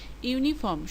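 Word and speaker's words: uniform: যেমন ইউনিফর্ম শব্দটি ভাওয়েল দিয়ে শুরু হলেও উচ্চারণ হচ্ছে কনসোনেন্টেরর মত। ইউনিফর্ম।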